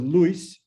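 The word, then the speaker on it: լույս: them so the word luis one syllable one stress when the stress is no longer on the word luis but shifts then the ui becomes oo so that's what we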